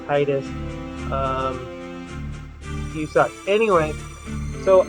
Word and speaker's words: Tidus: of you that follow the Kingdom Hearts pronunciation of what the character's name is supposed to be which is the Titus um you saw anyway